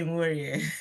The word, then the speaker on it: Nworie: Yeah, you really did well with the pronunciation. It's not your fault. Yeah, I'm Nworie.